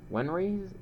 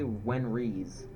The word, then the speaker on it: Wenries: Wenry? Oh. I've been calling her Wenry this whole time. She's actually Wenries, with an S at the end.